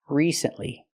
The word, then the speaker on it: recently: have to use a long e sound like green beans re recently not recently not the short I like this is we need the long e like green beans re recently it's important to pronounce it correctly because it's a stressed syllable recently recently recently I